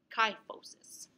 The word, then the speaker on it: kyphosis: Kyphosis. This is when you're hunched like this. Okay. I just think of Kai rhymes with. So when you sigh, you're like, yeah.